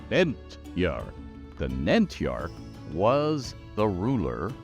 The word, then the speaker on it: Nentyarch: this and this is Nar two syllables emphasis on the first one Nar the narch was the